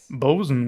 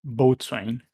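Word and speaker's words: boatswain: but I think the the proper way to pronounce it as bosen as far as I learned yes you learned yeah it's uh I think it's a sailor I see speech a bosen not Bain sure we'll go with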